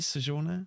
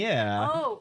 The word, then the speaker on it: Sojourner: Sojourner. Sojourner. Yeah. Sojourner. Yeah. Sojourn with a j.